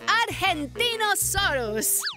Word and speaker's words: Argentinosaurus: the Argentinosaurus. Hi! That is a big name for a big dino. I have to break it up to say it right. Argentinosaurus.